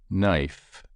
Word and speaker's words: knife: Penny table 33 three the following words illustrate silent k g w b l t and g h KNE Neil knelt na knit knife not knock knob new